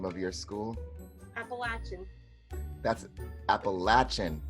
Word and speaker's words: Appalachian: name of your school Appalachian uh pas la Chen with a short a ladies gentlemen what is